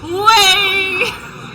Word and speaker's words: WHEYYY: Say it properly at least if you're gonna. WHEYYY! There you go. That's the only way, true way to say it.